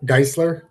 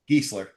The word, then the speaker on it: Gezer: Is your last name pronounced Geistler? Gezer. Gezer. Okay. Gezer.